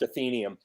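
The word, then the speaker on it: Athenaeum: radio success in the '90s, a group called Athenium. And called what? Athenium. It's an old. Do you remember them? Yeah, I think we called them Athenium. Okay. The word's technically pronounced Athenium.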